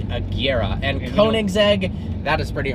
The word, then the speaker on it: Agera: so even automotive enthusiasts a jira r is not right it is the Kiera and Koenigsegg that is